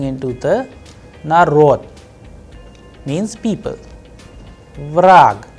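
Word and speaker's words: враг: Vrag, here you will see that ge is changing into ke. Vrag, the sound is of ke at the end.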